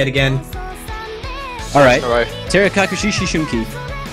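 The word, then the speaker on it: 照れ隠し思春期: And looks like our next map is going to be Terekakushi Shishunki. Yes, I rehearsed pronouncing that one. Say it again. Alright. Terekakushi Shishunki.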